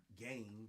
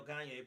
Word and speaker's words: Gane: I'm going to say it's Gane, not Gain, but maybe I could be wrong on that. But he's taking on Cyril Gane, but also he's going to be competing in the heavyweight weight class.